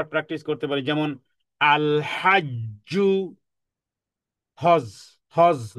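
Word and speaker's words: حج: করতে পারি, যেমন আল হাজ্জু, হজ, হজ নো, হজ নয়, হজ, হজ। হ্যাঁ, বলে যে হজ করে এসেছি, কি হলো? বাংলা বলেছেন, আরবি বলেননি, অথচ হজ একটা আরবি শব্দ, তাহলে বলতে হবে হজ।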